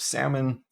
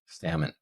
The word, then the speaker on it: salmon: in the case of salmon we see that the SA and Silent L would be the stress syllable salmon